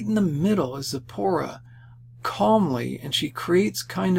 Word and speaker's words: Zipporah: Okay, hopefully I can pronounce it correctly. That's Zapharina. Do I even give her name? Yeah, Zipporah. sorry about that, Zipporah.